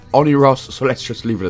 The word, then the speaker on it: Oneiros: all in honor of or one eye ross you know when i ross hangs out by the bushes all the time anyway it's pronounced honey ross so let's just leave